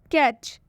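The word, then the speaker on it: catch: मतलब होता है मिलना कैच कैच में भी लास्ट में आया हुआ है टी सी एच इसलिए हम टी का उच्चारण कैच में नहीं करेंगे इसे हम कैच नहीं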